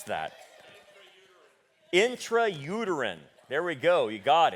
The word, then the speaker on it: intrauterine: that doc help me out how do you pronounce thatter intrauterine there we go you got it insemination so